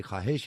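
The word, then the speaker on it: ख़्वाहिश: आपने लफ्ज इस्तेमाल किया था ख्वाहिशों, इसमें वाव नहीं, वाव को साइलेंट पढ़ते हैं। ये ख्वाहिश है, ये ख्वाहिश नहीं है।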